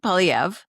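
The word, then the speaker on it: Poilievre: Polyv.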